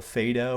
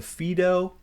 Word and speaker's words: Phaedo: of those dialogues called the Phaedo or the Phaedo. I was trained to say Phaedo, so I know people pronounce that differently.